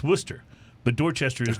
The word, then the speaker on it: Worcester: But you don't call it Worcester. It's Worcester.